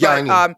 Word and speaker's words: Giannis: But it's so funny because his name is not pronounced like that. Anyway, yeah, it's Giannis. It's Yanni. They call him Yanni.